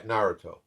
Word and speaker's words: Naruto: Naruto? Yeah, Naruto.